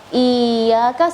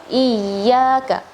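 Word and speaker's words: إِيَّاكَ: Eh, bedanya antara iyaka dan iyyaaka ya . Um, ini harusnya iyyaaka na'budu wa iyyaaka nasta'in.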